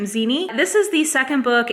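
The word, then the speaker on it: Xeni: talking about one was zinnie that's how you say her name zeni this is the second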